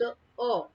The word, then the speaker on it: a: ठीक है, जो हमारा फर्स्ट पॉइंट है वो है ए is used, ए is pronounced like अ। ठीक है, ए को है आप अ पढ़ोगे, अ, ए नहीं।